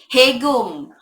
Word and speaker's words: Haegeum: Haegeum. That's what it says on how to pronounce pronunciation dictionary.